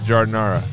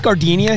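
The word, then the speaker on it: giardiniera: oh my God yeah I got the janara i' love CH that's how you say it too I asked jar yeah yeah yeah I said is this proun gardinia he's like no that's a flower I'm like oh [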